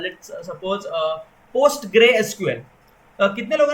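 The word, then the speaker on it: PostgreSQL: Flask framework में हमें काम करना है और डेटाबेस सपोज हमें यूज करना है, let's suppose post grey SQL.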